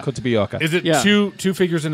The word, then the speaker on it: Kotobukiya: Kotobukiya. Kotobuyoka.